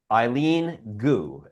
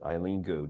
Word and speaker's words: Eileen Gu: Eileen Gu, I believe is the way you pronounce it. Eileen Gu, G-U.